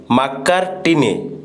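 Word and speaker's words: Macartney: तो देखो तो ट्रिटी ऑफ मैंगालोर जे करथिले टीपू सहित जो मद्रास गवर्नर से होचंती जॉर्ज मैकार्टिनी। तो आप देखु तांकर माने प्रोनाउंसिएशन आप देखिने जॉर्ज मैकार्टिने।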